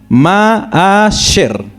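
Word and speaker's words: מעשר: Y si ustedes ya lo ven como se pronuncia normalmente nosotros en español es ma'asher, ¿cierto?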